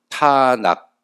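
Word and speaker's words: תנ״ך: 앞에 장모음 가지고 있고 뒤에 단모음을 가지고 있는데, 이렇게 읽으면은 이게 티읕 발음이 나고 이게 니은 발음이 나고 이게 키역 발음이 나옵니다. 그래서 타낙, 이렇게 그들이 불렀어요.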